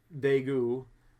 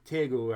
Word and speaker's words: Daegu: Most of those new reported cases are in the city of Daegu, I hope I'm saying that right. Daegu, I think, is maybe how you say it.